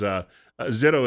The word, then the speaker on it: Zito: She is Zito, as she pronounces it. We were talking earlier that her son was a good baseball player, and there were comparisons to Barry Zito, but slightly different pronunciation.